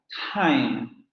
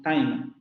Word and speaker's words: time: de palabras debe aspirar haim no decimos time porque así sería la pronunciación con nuestra española time haim en los demás